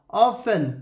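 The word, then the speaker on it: often: এখানে টি silent letter, listen টি silent letter, অফেন টি silent letter, ফাসেন টি silent letter, এভাবে বিভিন্ন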